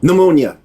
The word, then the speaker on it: pneumonia: Um, pneumonia. That's right. I always mess that up because the P always with me.